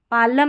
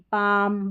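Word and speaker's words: palm: जैसे कालम नहीं बोलते, काम, पालम नहीं, पाम, बालम नहीं, बाम, ऐसे L को नहीं पढ़ते हैं।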